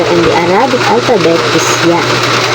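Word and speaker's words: ياء: the Arabic alphabet is y y is pronounced from the middle part of the tongue and the roof of the mou when we use the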